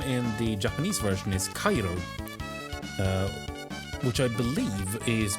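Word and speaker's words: カエル: Now I know how frogs were pronounced. Yeah, just called frog. Now, frog's name in the Japanese version is Cairo, uh, which I believe is both the Japanese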